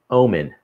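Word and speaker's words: ОМОН: And so people who know Russian, so O-M-O, the H is pronounced as an N. So that thing says Omen.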